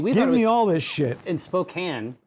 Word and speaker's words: Spokane: it shows up or Spokan shows up like in a show it's always going to be Yakima what is wait how do you say Spokan well you say Spokane but what is it